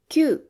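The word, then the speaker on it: 九: Tiếp theo là hachi kyuu, hoặc ku Chỗ này cũng có hai cách đọc. Cách đọc kyuu được dùng nhiều hơn.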